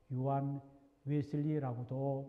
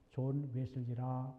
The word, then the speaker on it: 존 웨슬리: 그리고 어 유한 웨슬리가 맞냐, 존웨슬리가 맞냐라고 하는 질문에 대하여는 한국 초기 기독교 역사에서 존한을 영어 독일어식 발음인 요한이라고 부르던 관습에서 요한 웨슬리라고도 많이 불렀습니다. 하지만 저는 그가 영국 사람이기에 본래 발음에 가까운 존 웨슬리라 부르겠습니다.